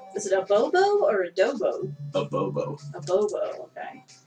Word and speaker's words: adobo: Is it a bobo or a dobo? A bobo. A bobo. Okay, I was saying it right. So it's like adobo is a seasoning that I use in cooking sometimes.